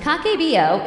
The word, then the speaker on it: Kakeibo: Kakebo, pronounced Kakbo, is a traditional Japanese budgeting system.